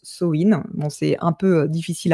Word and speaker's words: Samhain: Ça s'écrit comme ça mais ça se prononce soin.